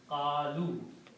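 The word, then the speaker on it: قالوا: And its plural is by adding a waw at the end, qalu. And this alif is not recited, it's not pronounced.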